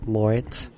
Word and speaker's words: Moretz: Moretz.